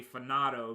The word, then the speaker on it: Fanato: I also have to make sure I adjust how I say FANATO and say FANATO, because I believe that that's the correct, or that's going to be the actual pronunciation to it.